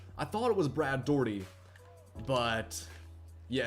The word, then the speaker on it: Daugherty: here we got Brad Daugherty I think that's how you pronounce his name I know it's spelled daughtery but I think it's pronounced like Dougherty I could be wrong about that but we got him